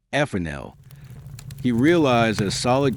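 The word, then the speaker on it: Fresnel: Then came a French physicist named Augustine Gene Fel, pronounced ephanel.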